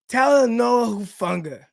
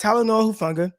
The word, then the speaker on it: Talanoa Hufanga: Chris was like, no, it's you sound it out like just how it sounds. You say it just how it sounds. So we got Talanoa Hufanga, and a lot of